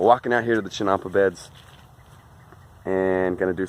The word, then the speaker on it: chinampa: to the chinampa beds make sure I say it correctly this video chinampa chinampa Champa got to get it in my head not chimpan chinampa beds we're walking out here to the chinampa beds and going to